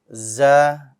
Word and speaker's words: ز: za like a z this letter is also light but this letter has no air right why do we want it to be light you don't want to be um bold like za keep it light and no air because if you add